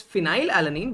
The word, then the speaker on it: phenylalanine: this is phenylalanine and you get the sound of F from here although it's phenylalanine but you pronounce it as phenyl so if so yes we don't write P here we write F here so yes based on